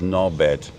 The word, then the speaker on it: Norbert: But he didn't pronounce the T. So it was a D on the end, and he wasn't pronouncing the R, so it was Nobed, yeah, Norbert.